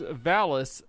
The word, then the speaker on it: Valis: David and Jesse both say Valis, which is correct. This is Valis, the Phantasm Soldier. And right before the show, my wife pointed out that this rhymes with phallus, so it may not